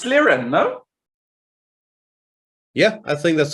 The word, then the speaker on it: Liren: It's Liren, no?